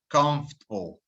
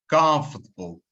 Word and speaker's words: comfortable: word is pronounced now this word just like vegetable has an extra vowel in there that we don't need to pronounce comfortable not comfortable or